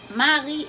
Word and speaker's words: Marie: Pour différencier prononciation et spelling là et orthographe là, Marie M-A-R-I-E prononcé Marie, Mari, M-A-R-Y, prononse mare.